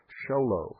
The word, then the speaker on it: Show Low: Show Low, spelled SHOWLOW, Arizona, 85901. One more time, P.O. Box 1420. Sholo, and it's spelled just exactly like it sounds. Arizona, 85901.